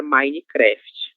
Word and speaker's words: Minecraft: Pero vamos a pronunciar Minecraft, ok? Porque não é uma palavra brasileira, né?